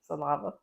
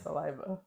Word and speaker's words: saliva: I was wrong hey what's the fluid inside your mouth what's it called salava it's not called salava stop doing stop stop I'm talking to you no more spell it she call saliva saliva oh it is saliva I've been saying that what are you talking about I've been saying it's not called saliva it's saliva you got your vows off